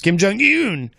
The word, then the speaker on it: Kim Jong-un: I'm a stickler for pronouncing things correctly. Yes, it's Kim Jong-un.